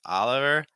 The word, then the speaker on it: Oliver: Ro it's more raah same thing with Oliver so it's not Oliver it's Oliver and Mark R Mar